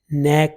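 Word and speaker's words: knack: फिर है ए साउंड, जैसे पैक में, बैक में, मैक में, नैक में। नैक में क साइलेंट है इसलिए वो नहीं लिखा जाएगा। न साउंड लिखी जाएगी, ए लिखी जाएगी और क लिखा जाएगा।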